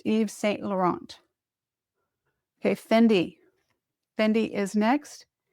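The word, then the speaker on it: Yves Saint Laurent: Pronounced Eve St. Laurent.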